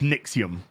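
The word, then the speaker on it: NXIVM: Nixon actually was it's n-i-x-i-v-m V but it's pronounced nixium but it's a v not a u and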